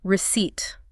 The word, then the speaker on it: receipt: There is indeed a P and it is 100% entirely silent. You must pretend the P is invisible.